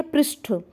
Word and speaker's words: पृष्ठ: है ठ होता है लास्ट में ठ का प्रोनाउंस एशन इसमें क्या रहता है ठ और इसमें क्या अशुद्ध शब्द में ट रहता है तो ध्यान रखिएगा परिस